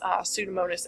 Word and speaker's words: Pseudomonas: So this one is our strict or obligate aerobe, which is Pseudomonas aeruginosa. The P is silent.